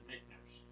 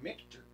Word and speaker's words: Michter's: It's actually Michner's because it's MICHTER. Oh wow. There's no N in the middle of it. No, So I it's say actually I say Michter's.